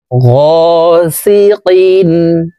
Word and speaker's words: غاسق: কফ হরফ জিহ্বার গোড়া তার বরাবর উপরের তালুর সঙ্গে লাগাইয়া উচ্চারণ করে পড়তে হবে। গাসিকিন ইযা ওয়াকাবে, ইযা ওয়াকাবে,